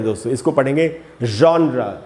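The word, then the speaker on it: genre: है तो इसको पढ़ेंगे जॉन्रा इसको लोग अक्सर जॉनर बोलते हैं अपने आप हम पूछते हैं ना तुम किस जॉनर के सिंगर हो तो जॉनर नहीं होगा दोस्तों उच्चारण है जॉन्रा तो दोस्तों यही यही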